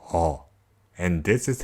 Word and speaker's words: ㅓ: All has the sound of when you were trying to answer a question and go, That sound is how to pronounce it. Just adjust the length into one syllable, and there we go.